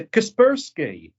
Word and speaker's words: Kaspersky: Caper Sky. It's a Kaspersky. He goes, oh, is that what it's called? What conspiracy? Keep the sky. Never heard it pronounced anything like that before.